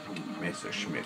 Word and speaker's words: Messerschmitt: Messerschmitt, if I want to pronounce it correctly.